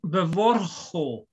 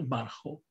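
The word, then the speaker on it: בְּבָרְחוֹ: It's bevorcho, because this is the eternal trap of the comments that needs to be pronounced as an O in a closed, unaccentuated syllable. And it's typical for a infinitive with a suffix, that it's written like this, and it's pronounced vorcho and not barcho.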